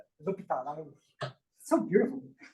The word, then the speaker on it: L'Hôpital: Correct pronunciation? Sure. L'Hôpital, right? How do you pronounce it correctly? L'Hôpital.